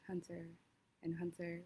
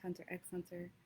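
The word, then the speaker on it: Hunter × Hunter: Um like Hunter and Hunter, which I thought was pronounced Hunter X Hunter. That's not how it's pronounced.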